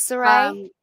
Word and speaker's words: Sarai: But following that, we have Saray. Am I pronouncing that? Yes, Sarai.